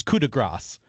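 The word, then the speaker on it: coup de grâce: Well, I'm going to pronounce it first, because otherwise I can't really talk about it. It's coup de grace, and that is like the final blow, basically.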